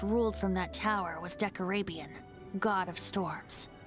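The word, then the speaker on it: Decarabian: from that tower was decorabian god of storms that's how it's pronounced deck arabian back then i was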